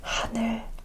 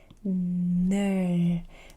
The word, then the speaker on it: 하늘: I make the word 하늘, 하늘. So we said this is an H but very soft. 하늘, because I have n, l, 하늘. I say 늘. 하늘 means sky. 하늘, 하늘, 하늘, 하늘.